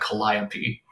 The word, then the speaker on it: Calliope: All right, grab your hot sauce, Josh, because the bingo that Matthew Tunnicliffe has with an E is spelled Calliope, but it's Greek. You're going to pronounce that Calliope.